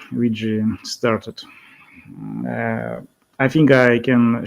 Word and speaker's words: Weje: So how should I pronounce Vijay? Vijay, is it? Vijay.